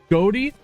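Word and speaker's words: ghoti: Goi is a creative English respelling of the word fish.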